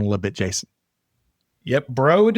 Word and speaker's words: Broad: Broad is in road. The broad as in road.